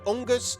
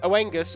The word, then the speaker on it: Oengus: Now, I'm going to pronounce I've heard three different pronunciations for this word, so I'm just going to say them all. It's either Unus, Oenus, or Angus. Take your pick.